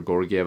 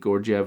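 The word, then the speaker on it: Georgiev: Now, here's the thing, Gorgiev, I don't know how people pronounce it, and sometimes with these names, there's multiple pronunciations. But Alexander Gorgiev, I believe that's how you say it.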